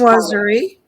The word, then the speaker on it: chinoiserie: I just Chinoiserie.